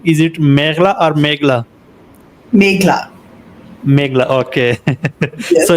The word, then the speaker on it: Meghla: First of all, can you please tell me the correct pronunciation of your name? Is it Meghla or Meghla?